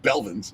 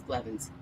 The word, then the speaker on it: Blevins: i actually said it i usually call them belvins or blade blemish no you say pelvis normally but it's blevins is it blevens yeah